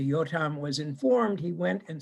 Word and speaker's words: Yotam: But it used to be that every Israeli would know the following section known as Mashal Yotam, Jotham's or Yotam, I'm just going to pronounce it in Hebrew, Yotam's parable.